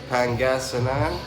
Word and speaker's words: Pangasinan: i see it written i'll be able to pronounce it pangasinan um i stayed at a hotel right